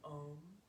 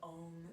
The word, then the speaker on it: om: our practice with an om and om is kind of spelled like a u n and we're making the sounds of those letters with our body and our voice taking it reach the